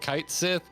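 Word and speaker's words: Cait Sith: with kate sith i i've heard kite sith and then there was like if you look up the japanese pronunciation it's completely different uh so it's it's like a cato sith or something i forget um so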